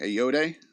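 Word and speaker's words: Ayoade: Richard Adoy. Uh you looking him up because I'm lost. Doy. It's a y o a d eode. Okay. A yode.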